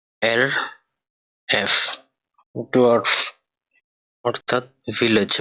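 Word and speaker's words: Dorf: এটার উচ্চারণ হবে ডে, ও, এর, এফ, ডোয়ার্ফ অর্থাৎ ভিলেজ বা গ্রাম।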